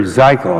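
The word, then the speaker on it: Zichal: And we know that yesterday was kind of interesting because Heather Zeichel, I believe is the way you pronounce her name, she was the one who had Carol Browner's job as the czar.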